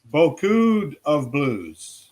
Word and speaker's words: Beaucoup of Blues: Final Richie wants to know whether he's been mispronouncing that Ringo. Yeah, Bakupsa Blues, my friend. Bakupsa Blues. Boku. Beaucoup of Blues.